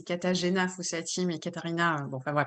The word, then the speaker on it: Katarzyna Fossati: Alors, pour la vraie prononciation, allez, c'est Katarzyna Fossati, mais Katarina, bon, enfin, ouais, bref, je réponds à toutes les dénominations, j'ai l'habitude, vu l'orthographe du prénom.